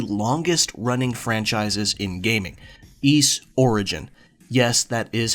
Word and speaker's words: Ys: one of the longest running franchises in gaming, East Origin. Yes, that is how it's pronounced. East.